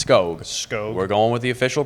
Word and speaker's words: Skog: office are really disappointed that it's not Wilmer skoo but it's skog we're going with the official pronunciation G yes SK o o g spelling